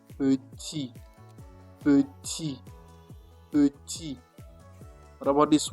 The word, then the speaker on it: petit: You just say petit. Ignore this T at the end. Just say petit.